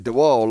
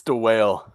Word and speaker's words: DeWale: to pronounce his surname, as we've been saying DeWall all the way through. Let's hope it is that. welcome in. Hello. Hello. Did I get it right? It's DeWale.